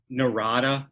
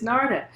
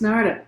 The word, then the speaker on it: Narada: yeah and is it narada or is it narda i've i've always been saying it wrong if it's not narada it looks like narada because that's the way it's spelled and that's the way